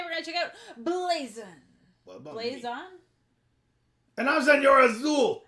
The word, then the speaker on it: Blazon: going to check out blazin blazon and i'm your azul how do you say it blazon i said it right all right yeah so